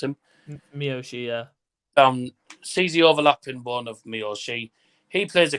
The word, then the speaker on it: Miyoshi: the one of uh miyoshi that's how you pronounce him miyoshi uh um he plays the cosplay as a